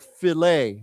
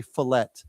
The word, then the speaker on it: fillet: And we don't pronounce the T, okay? So why don't we It's like fillet, okay? Now some I I have honestly I've heard some people say fillet, but I I think